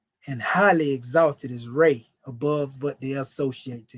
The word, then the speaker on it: Ra: Ray is the ancient Comedian entity of the sun, also known as Ra, pronounced Ra.